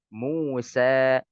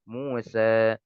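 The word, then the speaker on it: موسى: contohnya di sini kata musa ya Kebanyakan orang membaca apa Musa nah ini tidak sempurna harus dibuka Musa Ya dibuka mulutnya kemudian ya di sini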